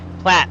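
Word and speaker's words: Platte: I hope I'm pronouncing that right. Let's see. Let's see if they could tell me that. You can find out anything online nowadays. Pronunciation. All right. Google's probably going to give it to me. Here we go. Ready? Plat River. I was right.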